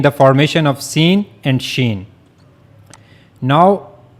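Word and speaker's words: شين: formation of scene and sheen. Now how to pronounce shen? So for pronouncing shen you have to use the middle of the tongue and you will go to the raw roof of the mouth.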